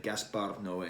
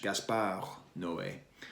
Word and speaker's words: Gaspar Noé: You see, Thirst is directed by this guy named Gaspar Noé. I don't know why I pronounce that like it's Spanish. Gaspar Noé.